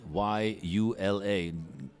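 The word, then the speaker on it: Gyula: this designer amazing designer his name is Ula but spelled with a g g y u l a I think it's pronounced YULA but I'm not sure he's from Hungary and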